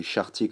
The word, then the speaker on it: Chartier: Ça s'écrit N-A-N-S et Chartier comme ça se prononce.